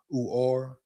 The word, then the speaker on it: Uar: Uhar Bernard, pronounced Uar, measured in earlier this week at the NFL's HBCU showcase at 6'4.5" 306 pounds, with 11-inch hands and almost 36-inch arms.